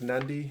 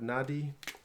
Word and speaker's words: Nadi: what I've been told it's not pronounced rad rad rare but it's R & R Andra it's a Fijian thing where ins invisible ends getting certain to some words like Nandi instead of Nadi the city anyway pretty hard to